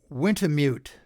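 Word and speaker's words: Wintemute: the last item here garen g-a-r-e-n went to mute i think that's how he pronounces it capital w-i-n-t-e-m-u-t-e he runs the uh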